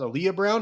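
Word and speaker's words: Alyla Browne: Stars Anya Taylor-Joy, Chris Hemsworth, Tom Burke as Praetorian Jack, Aaliyah Brown, I believe is how you pronounce. Aaliyah Brown is how you pronounce her name, as young Furiosa, in as much of this movie as Anya Taylor-Joy is.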